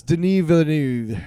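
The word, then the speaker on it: Denis Villeneuve: haven't even done uh Villanuv. Is that how you say it? Villanuv it's Deni Villanuv.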